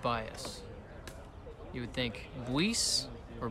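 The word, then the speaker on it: Buis: some tea tonight my voice is going to be shot oh bias now 3-0 when you look at mitch's name you wouldn't think it's pronounced bias you would think voice or bus but it's b-u-i-s and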